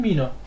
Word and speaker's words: Mine: Also bei einem N wird das I lang gesprochen, Mine.